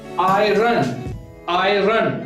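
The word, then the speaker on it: 爱人: I run, same as in English we pronounce iron, and its meaning is spouse.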